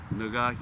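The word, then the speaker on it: 누가: There there is a a Korean word that sounds like the nword. So the word you I mean it's pronounced like nuga you get unjust like like one time on a bus.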